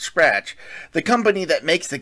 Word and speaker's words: SCRTC: There's also Miki Masaki, a major executive at SCRTC, pronounced Scratch, the company that makes